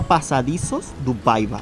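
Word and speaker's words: Passadiços do Paiva: Se llama Pasadizos do Paiva, así se dice en portugués, Pasadizos do Paiva.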